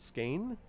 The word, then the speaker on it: skein: And then she opens her backpack, and in it she has a couple of, another pronunciation word, skein, S-K-E-I-N, or skein?